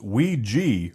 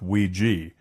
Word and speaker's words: Ouija: wondering the pronunciation well the original game instructions say pronounced Ouija or we jump and today Hasbro goes with Ouija hears from the retro